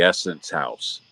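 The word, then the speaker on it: Essenhaus: big Amish tour stop in the old the Essence House.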